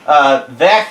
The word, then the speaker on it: Vert: And yes, that's actually how you pronounce his name. Vert is French for green.